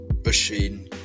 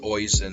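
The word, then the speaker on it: Oisín: Anyway, this one, it's obviously pretty notable in that it shows the dissatisfaction of Usheen in people mispronouncing his name. Like if you see it's spelled Oisin, so you'd probably think that's Oisin or something, but stuff like that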